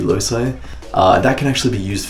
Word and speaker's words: loci: A lot of people pronounce that differently, but I looked it up and apparently it's meant to be loci.